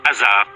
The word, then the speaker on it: Osiris: À sa mort, le roi ne fait plus qu'un avec le dieu de la mort, Osiris, dont le nom se prononce Hazar, en ancien égyptien.